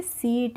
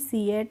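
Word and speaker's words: seat: है AC eighty तो इसको हम पढ़ लेंगे सीट इसको हम सीएट नहीं पढ़ेंगे तो फ्रेंड्स हमें रूल्स आने चाहिए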